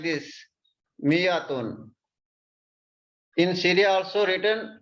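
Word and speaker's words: مائة: this you see here there is a alif we don't pronounce this alif it is pronounced we pronounce it like this miyatun in syria also written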